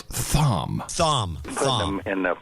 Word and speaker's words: Thom: And please note, Tom is spelled Thom.